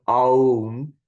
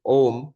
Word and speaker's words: Om: them together, it becomes Aum. But by the rules of Sanskrit grammar, when you put A and U together, it becomes O. So that's when if you pronounce it Om, you are pronouncing it correctly.